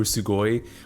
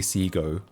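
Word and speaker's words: Segoe: I always pronounce Seago Sugoi. We had this debate earlier because yeah, I pronounced it like a Japanese word as well. I said Sugoe or Sugoe, but no, we googled it. It is actually Seago.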